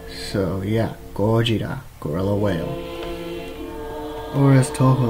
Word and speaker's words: Gojira: Now, Godzilla, the name means gorilla whale, because gorilla in Japan is basically how you say it here, only replace the L with an R, and whale is Kujira. So yeah, Gojira, gorilla whale, or as